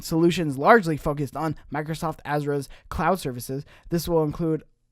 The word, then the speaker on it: Azure: has already done with Azure on both AI and cloud, as well as Sony's. That's not how you say it. It is Azure. No, it's wrong.